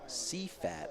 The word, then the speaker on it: CFAT: Pronounce CFAT as a word, not letter by letter.